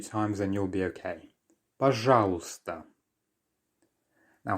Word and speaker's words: пожалуйста: Пожалуйста. Once again, пожалуйста. So we have another silent letter here. The y towards the end is not heard.